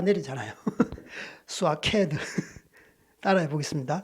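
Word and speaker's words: שקד: 이 살구라는 뜻이 이제 히브리어로 발음이 굉장히 어려운데 비가 내릴 때 쏴 내리잖아요. 스와케드 따라해 보겠습니다. 스와케드.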